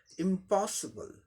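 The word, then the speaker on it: impossible: अब इसी का अमेरिकन इंग्लिश में अगर प्रोनाउंस करना हो इस वर्ड को अमेरिकन इंग्लिश में, तो क्या हो जाएगा, एक फर्क आ जाएगा, ओ साउंड की जगह आ साउंड आ जाएगा। ये ब्रिटिश इंग्लिश प्रोनाउंसिएशन ऊपर वाला हो गया, नीचे वाला अमेरिकन। अमेरिकन में, ब्रिटिश में क्या हो जाएगा, ओ साउंड होगा, अमेरिकन में आ साउंड हो जाएगा।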